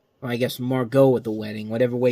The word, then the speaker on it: Margot: E is silent so I guess here the t is silent but uh anyway we're